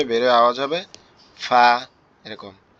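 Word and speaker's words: فاء: ফা অক্ষরটা হচ্ছে আমাদের উপরের দাঁত নিচের ঠোঁটের পেটের সঙ্গে লাগবে, লেগে হালকা বাতাস মতো বের হবে, বের হয়ে আওয়াজ হবে ফা, এরকম ফা, এরকম।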